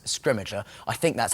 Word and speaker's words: Scrimgeour: have Bill Nye playing scrimmage er who is fantastic there was there we have kind of eventually reached consensus on how to say his name and we go with scrimmage er I think that's how